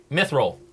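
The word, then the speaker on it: Mythroll: know how it's spelled m y t h r o l l just like it sounds as opposed to how it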